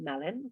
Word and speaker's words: melon: Cuando una palabra acaba en ON, se pronuncia en.